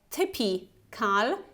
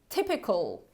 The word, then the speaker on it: typical: and now you see this I it's not pronounced like Tippy Carl but typical typical okay so we have this short e